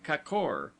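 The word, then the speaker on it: k'kor: word as kor gorges pronounced as though written kakor the a having the sound of ah in sofa lions don end of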